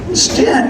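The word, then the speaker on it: Styn: name like 15 times because it's spelled S-T-Y-N. So yeah. So it rhymes with win. So S-T-Y-N, rhymes with win. Stint, there we go.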